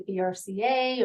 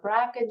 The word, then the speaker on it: BRCA: lot of people have heard of the brca or bracket genes different pronunciations of the brca uh they about 50